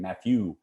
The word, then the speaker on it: Mathieu: But now they have a really great winemaker named Mathieu. I say it like that because he is French.